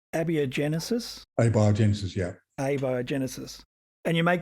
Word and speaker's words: abiogenesis: to I'm not sure if I'm going to pronounce this correct correctly ABIA Genesis a biogenesis yeah abiogenesis and you make the distinction between